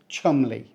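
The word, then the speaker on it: Cholmondeley: is the legendary Chumley we pronounce it Chumley so we don't say CH M or CH Mond early this one's a real curveball it looks like a tongue twister but the locals thankfully have simplified it down just to two easy syllables Chum Le Chumley Castle is surrounded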